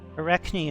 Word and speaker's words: Arachne: work a Venezia aquaticus Arachne and weaver Arachne iraq nan weaver possibly in the vowels but the emphasis is definitely on the center second syllable or a rakion champion